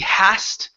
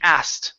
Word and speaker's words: asked: Take off the h sound at the beginning of asked. Okay. So instead of he hast, okay, it's he asked. Try that. He asked. Okay. Now pronounce the H. We need the H here. No H on ask.